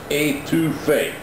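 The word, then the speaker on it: étouffée: It's pronounced etouffee.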